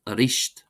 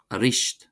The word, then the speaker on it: arís: Then we have arish arish meaning again.